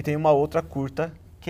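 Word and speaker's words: kurta: o nome dessa roupa aqui é curta então não se escreve como o nosso português então é k h u r t a aí a gente tem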